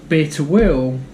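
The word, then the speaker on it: Bir Tawil: The Halaib triangle is the one that people do want to control, so that it's the bitter will, I think that's how it's pronounced, is the bit that nobody wants.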